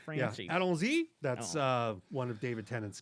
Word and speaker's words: allons-y: How do you pronounce that? it's French. It's Francie. Yeah, allons-y.